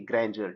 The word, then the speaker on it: grandeur: और इसका मतलब होगा वो तो बताएंगे, लेकिन प्रोनाउंसिएशन क्या होगी इसकी, ग्रैंडर।